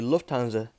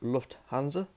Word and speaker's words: Lufthansa: Of course, Luft is meaning air in German, and Hansa. So Hansa is meaning is standing for the Hanseatic League. So again, the airline is technically meant to be pronounced Lufthansa, not Lufthansa.